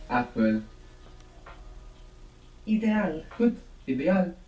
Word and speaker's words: ideal: how it's spelled e try and pronounce each of those vowels as they are written I like ink e Like Elephant a like apple IDE good ideal how would say it's